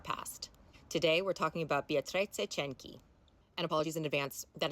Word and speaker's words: Beatrice Cenci: Today, we're talking about Beatrice Cenci. And apologies in advance, that is the only time I will be pronouncing her name correctly.